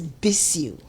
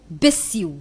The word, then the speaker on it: Bissiw: Well, it's Bissiw. Bissiw. Bissiw. Okay. Bissiw. It has a meaning, yeah. Bissiw. Bissiw. But I think it's a heavy name, so when people pronounce it anyhow, I take it. Really? The only thing I don't take is when they add one S to my one So you don't want the double S.